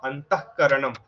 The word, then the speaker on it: অন্তঃকরণম: তো গুরুঃ পরমম অন্তঃকরণম, কয়ের আগে একটা ক্ষয়ের মতো হয়ে গেল, সেটা অন্তঃকরণম, অন্তঃকরণম। এই জায়গাটা একটু দেখতে হবে, একটা ক্ষয়ের মতো একটি ভাব আসবে।